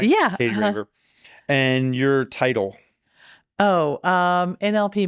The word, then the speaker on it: Katie Raver: Katie Raver, is that how you pronounce it? Am I pronouncing it right? Yeah. Katie Raver.